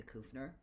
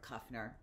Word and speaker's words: Kufner: I used to be married at one point and lived in Germany, and my name was Kufner. That was or Kufner, the way the Americans pronounce it.